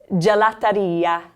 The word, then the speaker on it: gelateria: Now we're going to go to the enunciated ia sound, and the list right here. We'll start with the word for pharmacy. There's no PH combination in Italian. You're going to see just an F. Allora, farmacia. Farmacia. And then where you get your delicious gelato is at the gelateria. Gelateria.